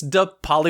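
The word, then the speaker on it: DePaoli: need you to sing the song oh it's de pauli with the d then followed by an e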